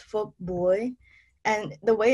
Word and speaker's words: Phuc Bui: It's Phuc Bui. And the way it's spelled is P-H-U-C and then B-U-I.